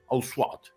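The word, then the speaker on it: Ussat: and 2 daughters in Ausat. No, let me pronounce it in French. Ausat. Usat. Okay, Usat.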